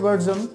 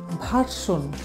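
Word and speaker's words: version: তারপরে রয়েছে ভার্জন Android ভার্জন lollipop ভার্জন এই যে এটাকে আমরা উচ্চারণ করি ভার্সন ভার্সন বলি বাট এটা সঠিক উচ্চারণ হবে ভার্জন ভিয়ের উচ্চারণ হবে ব আমি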